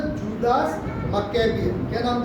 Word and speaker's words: Maccabean: क्या बोलते हैं, मक्केबियन। स्पेलिंग है MACCABEAN, मक्केबियन पीरियड, या बोलते हैं इंडिपेंडेंट पीरियड।